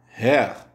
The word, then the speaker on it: Herr: Hör se prononce Herr, Herr, monsieur.